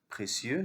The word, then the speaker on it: précieux: I se prononce IE. Comme des cieux, des lieux. Précieux, c'est-à-dire il est de grande importance.